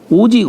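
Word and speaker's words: 惡: 이게 오직 어진 자라야 능히 사람을 좋아할 수 있으며, 능 오인, 여기서 오자는 미워할 오, 예, 미워할 오. 악하다 할 때는 악이라고 읽지만 미워한다, 싫어한다 할 때는 오라고 읽죠.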